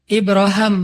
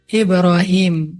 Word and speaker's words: Ibrahim: Kalau dalam salah satu qiraat itu bacanya Ibra Ibraham. Makanya orang Inggris nyebutnya Abraham. atau bisa juga dibaca Ibrahim.